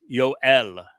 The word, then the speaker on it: Yoel: The W is always pronounced as the O. That's how you get Yo.